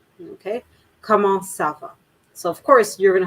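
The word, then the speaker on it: ça va: of an s rather than a hard c okay uh because c tends to be much more a harsher word so come on sava so you see i'm the sava all right so i'm pronouncing it much more almost like i have a snake in my in my mouth come on sava right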